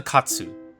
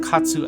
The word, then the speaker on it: katsu: Of course, we think of katsu as a Japanese dish, but in Japan, it's actually considered yoshoku, or a Western-influenced dish. Katsu is the Japanese pronunciation of the word cutlet, and it is a